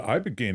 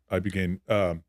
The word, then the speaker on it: Ibogaine: So the Ibogaine experience, am I saying it right? Yeah. Ibogaine, that was recently.